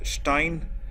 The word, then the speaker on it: Stein: Like similarly, Stein is pronounced as Stein, and Stein is basically something called stone.